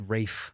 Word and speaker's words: Ralph: Rafe. Is that an L? It is. That's how you spell it. It's Rafe.